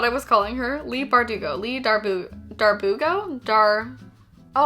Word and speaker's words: Bardugo: of crows by Lee bardugo did I say her name right this time I did can I get a round of applause I did not call her Lee Darbo wait is that even